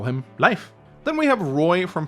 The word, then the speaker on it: Leif: However, we pronounce it very differently. We say Leif, as in Leif Erikson, one of the most famous Norwegian explorers in history.